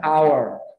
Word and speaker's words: hour: E aqui o H é mudo. An hour.